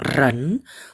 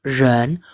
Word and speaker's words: 人: Ini ren, jangan bilang ren, tapi ren. 我是印尼人, aku orang Indonesia. Ren, saya, teman-teman kalau sudah belajar bahasa Mandarin dengan saya tuntutannya agak tinggi, saya nggak mau dengar kata yang digetar.